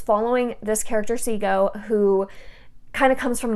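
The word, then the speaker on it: Cego: the characters I love our main character of seago is how I pronounce it c-e-g-o is how it's spelled seagull uh I love him so so much it's following this character see go who kind of comes from nothing he's fighting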